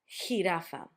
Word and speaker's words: jirafa: Jirafa. It could also be a very strong H for you, but it's a jirafa.